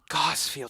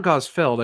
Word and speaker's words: Gosfield: that is it Maurice is it Maurice gozfield gossfield so that's how it's pronounced well because it's not God's field I think there's an